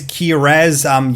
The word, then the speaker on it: Kihraxz: It says Kihraxz. You don't pronounce the X for some reason, but there's an X in there.